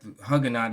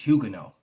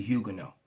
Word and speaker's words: Huguenot: right there the uh i'm about 99.9 percent that hugonite is pronounced huguenot all right it's a french word so looking at it in english it would look like it's hugging us but it's actually huguenot i just wanted to